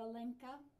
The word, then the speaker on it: Alenka: name from Helen to a lenka lowercase H emphasis on the middle syllable alenka she turned a ramshackle